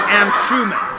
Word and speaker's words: Anshuman: first alright so yeah your name is am sue man but it's pronounced Anshuman my name is Matt